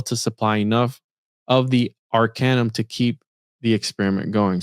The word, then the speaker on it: arcanum: Arcanum it's I say I've been saying it wrong acronym Arcanum thus I have the